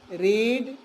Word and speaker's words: read: अब कमाल बात है भाई, एक ही स्पेलिंग है रीड, READ, READ, READ। अरे अंग्रेजों ने कैसा बनाया सोचना पड़ता है, हमें पढ़ना पड़ेगा। जब हम इसको इस्तेमाल करेंगे प्रेजेंट में तो रीड पढ़ेंगे, जब पास्ट में इस्तेमाल पढ़ेंगे तो सेम स्पेलिंग है, इसको हम रेड पढ़ेंगे, इसको भी रेड पढ़ेंगे, इसको रीड पढ़ेंगे।